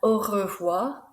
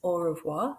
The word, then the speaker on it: au revoir: And au revoir, that R sound is rolled, if you can roll it. If not, it's au revoir, that's fine.